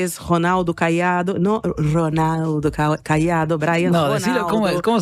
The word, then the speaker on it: Caiado: El tercer candidato, que es Ronaldo Caiado, no Ronaldo Caiado, Brian. No, Ronaldo, decilo, ¿cómo se dice? Ronaldo Caiado. Ronaldinho, ¿no? Ronaldo Caiado.